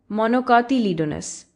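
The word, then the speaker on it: monocotyledons: अच्छा तो पहला डाईकोट लीडनस ऐसे प्रोनाउंस होता है। डाईक लीडनस समझ आया और दूसरा मोनोकातलिडोनस ऐसे प्रोनाउंस होता है। मोनोकातीडोनस इसे समझने में थोड़ा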